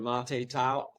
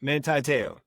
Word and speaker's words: Manti Te'o: we had the scandal with the girlfriend of Monte Tao, how do you say his name? Yeah, Manti Te'o.